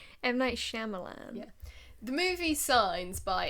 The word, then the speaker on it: Shyamalan: Am I pronouncing that right? M. Night Shyamalan.